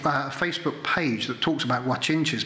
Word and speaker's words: Guanche: page that talks about watch inches but it's not spelt that is spelt I'll tell you G you a CH i n CH e watching gee this is